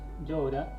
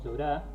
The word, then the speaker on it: llora: El Crespín llora, es llora y no llorá, ¿sí? El acento está en la cuarta sílaba.